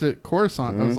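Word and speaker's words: Coruscant: you know what I always called it what caress 'can't and politics telling me I'm wrong someone to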